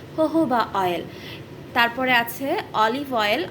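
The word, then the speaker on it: jojoba: জোজোভা অয়েল হতে পারে actually জোজোভা অয়েল বলা ঠিক না আমাদের দেশে জোজোভা অয়েল নামেই পরিচিত বলে এটা আমি উচ্চারণ করলাম একচুয়ালি ইন্টারন্যাশনালি জোজোভা অয়েল কে বলা হয় হোহোবা অয়েল তারপরে আছে অলিভ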